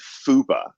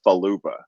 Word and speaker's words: fupa: the word as I understand it is fupa, not falupa.